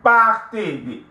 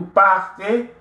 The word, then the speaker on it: partez: So nous partons, vous partez, the EZ, right? It's always pronounced A. Vous partez, il, elle partent.